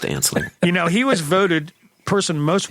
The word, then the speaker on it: Anslinger: Well, it's spelled ass-liquor, but it's pronounced Anslinger.